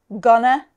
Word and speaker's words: gonna: British, Indian, American, South African, but the stress is always on the first syllable. Gonna, wanna, and gotta.